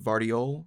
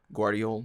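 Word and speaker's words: Gvardiol: out I think um vardiol or guardiol depending on how you just I've heard it pronounced both ways no no no no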